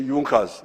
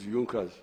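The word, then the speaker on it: Junkers: don't know this European they write junas but they say yunas that the pronunciation is yunkers these were I think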